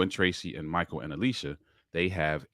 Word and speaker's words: Elisha: Michael Beach married Alicia. I think that's how you say it. It's spelled Elisha, like the Bible, but I think it's Alicia.